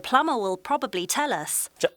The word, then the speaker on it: plumber: The plumber will probably tell us. 자, the plumber will probably tell us. 자, 플러머가 아마도 우리에게 얘기해 줄 겁니다. 발음 주시하시고 B는 silent. 묵음이에요.